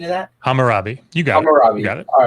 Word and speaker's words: Hammurabi: digital hammer hammer rabbi hammer what's the correct pronunciation of that hammurabi you guys got it all right i'm trying